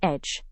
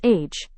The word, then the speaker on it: edge: Our last word is edge. Hindi mein iska matlab hai kinara. It is pronounced as age, instead of age.